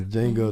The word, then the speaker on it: Django: Yeah, Django, the D is silent. Django Unchained, man.